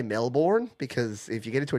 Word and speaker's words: Melbourne: and he's live in Melbourne, and it is pronounced Melbourne. I know it looks like Melbourne, and I don't give anyone grief if they say Melbourne.